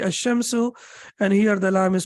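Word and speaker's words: الشمس: we can see here the lime is not pronounced and the pronoun the correct pronunciation will be a shimsu and here the lime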